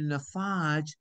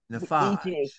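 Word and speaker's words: Navage: All of you all need a Nafage because it cleans the nostrils quite well.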